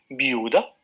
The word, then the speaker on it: viuda: Por ejemplo, si pronunciamos viuda, entonces la vocal que tiene más sonoridad es U, viuda, ¿no?